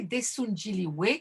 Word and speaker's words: Daesoon Jinrihoe: Donc le groupe coréen dont je vais vous parler, Desunjili, ça se prononce bien que leur c'est la transcription française